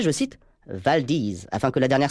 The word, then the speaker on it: Valdez: cru insiste sur le fait qu'il faut le prononcer je cite valdise afin que la dernière syllabe rime avec disease